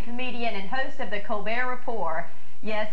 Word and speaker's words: Colbert: stephen colbert he is a charlestonian he's a hard-working comedian and host of the colbert report yes he prefers the french pronunciation he is not an